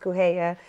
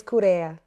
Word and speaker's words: Correia: My last name is Cape Verde in Portuguese, and so it's pronounced Correia. But in English, it's Correia. Oh, so, get that right. A little R.